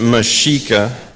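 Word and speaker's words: Mexica: you and justly know the x is pronounced with a sh sound May the wisdom of the ancient Mika guide us and may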